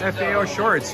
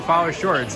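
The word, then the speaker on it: FAO Schwarz: funny Natasha stew boy are saying it's pronounced FAO shorts you're right I've been saying follow shorts huh like it's like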